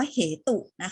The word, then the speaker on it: เหตุ: ไม่ ได้ อ่าน ว่า เหตุนะ คะ อ่า เรา ไม่ ออก เสียง สระ อุ ใน คำ นี้ เรา อ่าน เพียง แค่ ว่า เหตุ เหตุ เป็น สิ่ง ที่